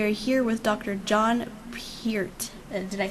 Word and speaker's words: Peart: John Peart. Did I say it right? Yes, Lauren. John Peart.